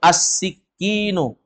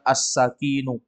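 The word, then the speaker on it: السكين: Ayo, as-sikinu. Asikinu. As-sikinu. Asikinu. Jangan dibaca as-sakinu. Kalau dibaca as-sakinu artinya tenang.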